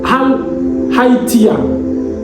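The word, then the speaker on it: ἀλήθεια: je peux le prononcer ça se dit Hal hatia ça s'écrit haltea pour dire que c'est quelque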